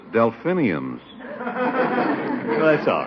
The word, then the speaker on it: delphiniums: And I've always wanted to grow some of those Philadelphians. Philadelphians. Well, that's funny. I pronounce it delphiniums.